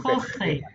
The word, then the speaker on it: Jorge: En français, phonétiquement, c'est comme si ça s'écrit R-O-R-E. Ok, Ok. Jorge. Énergétiquement, oui, parfait, super. Jorge.